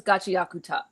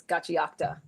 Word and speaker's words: Gachiakuta: I originally thought it was Gachiakuta, Akuta, but then I realized it's Gachiakuta.